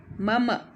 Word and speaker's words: मम: आपको बताया था कि हलंत नहीं लगेगा गलत छपा हुआ है तो हलंत हटा दीजिएगा मंत्री मीरा तो हलंत नहीं लिखेंगे मम इस तरह से उच्चारण करेंगे मम मम और पुस्तकानि का यह